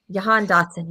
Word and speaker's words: Jahan Dotson: Jahan Dotson.